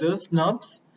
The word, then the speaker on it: snRNP: The removal of introns is promoted by small nuclear ribonucleoprotein particles, which are pronounced as a SNPs, and they are formed by the association of small nuclear RNA with protein.